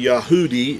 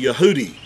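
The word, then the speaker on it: יהודי: use the word Jew today but it's actually yahoodi is how you would uh you would identify a Jewish person individ ually would be a yahudi or he would if it's a group of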